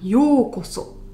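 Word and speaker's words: ようこそ: Donc en termes de prononciation en fait, yōkoso se dira yo, donc on va allonger le o, et ça fera yōkoso.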